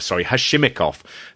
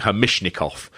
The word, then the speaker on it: Hashimikov: Hashimikov, JR keeps saying Hamishnikov.